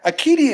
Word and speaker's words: acedia: And anger, acedia is a unique word, really. I don't know why people call it it's spelled with a C, because it's a kappa in Greek.